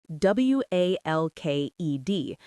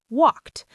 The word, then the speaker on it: walked: So walk ends in a k sound and we say walked. We write it w a l k e d but we say walked. And cook ends in a k sound too. So we say cooked. The e d is almost invisible.